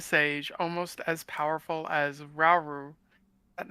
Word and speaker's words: Rauru: You being a sage, almost as powerful as Rauru. Is that how you say it? Rauru? Yes, Rauru.